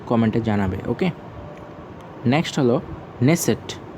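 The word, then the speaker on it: Knesset: ওকে, next হলো নেসেট। ওকে, এখানে কেটা সাউন্ড উচ্চারণটা নেই।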